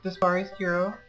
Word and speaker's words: Dispari Scuro: also known as Dispari Scuro, and yes, that is how you say both my real name and my internet name.